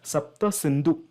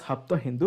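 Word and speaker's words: Sapta Sindhu: it is mentioned as sapta synu right sapta synu Yi Seven Rivers Seven Rivers now the Persians came around that region and they started mispronouncing it as hapta Hindu because they can't pronounce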